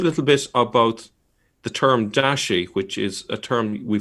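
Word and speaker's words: 大食: pronounced in the 7th Century but nowadays it's pronounced Dashi um and I will be using that term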